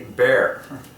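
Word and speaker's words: Behr: is a can of paint by the company Bear. I'm just going to rattle through all this. Bear equals 33. And their slogan is good, better, bear. 3 words, the final word is 33. Good, better, bear.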